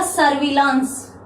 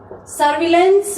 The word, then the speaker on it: surveillance: इसको बोला जाएगा सर्विलांस। सर्विलांस, सर्विलेंस भी बोला जा सकता है, सर्विलेंस, परंतु शुद्ध उच्चारण इसका सर्विलांस ही होगा।